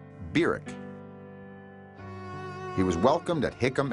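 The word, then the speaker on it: Barack: from Kenya in August of nineteen fifty-nine was birak Hussein Obama that's how he pronounced his name biruk he was welcomed at Hickam Air Force Base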